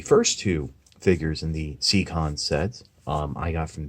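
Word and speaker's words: Seacons: to get your C Conn's and yes that's pronounced secon it's not see icons that some people do and on over to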